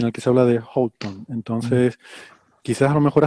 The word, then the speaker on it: Houghton: Y Yo este apellido lo he visto pronunciado de varias formas, ¿eh? Y de hecho, al anunciar el premio, vi que la persona que lo anunciaba decía Houghton, Ujú.